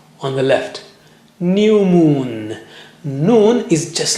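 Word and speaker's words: نون: How do you say noon? Touch the tip of the tongue to the upper gums a little above the roots of the teeth, as you see in the picture.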